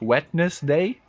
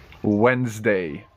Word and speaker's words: Wednesday: it's just Wednesday Wednesday there is no need to look at the spelling whatsoever it doesn't make any sense wetness day is it like a wedding or something what's going on Wednesday Wednesday is ch challenge